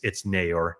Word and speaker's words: Neyor: I think I probably said Naor at some point, but it's Naor. He told me that.